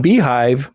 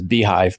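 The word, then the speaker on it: beehiiv: Then I go out and go to people like you, and on Beehive you can promote me.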